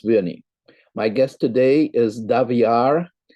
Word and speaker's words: Daviorr: my guest today is daviar which i'm told rhymes with caviar indeed yes indeed who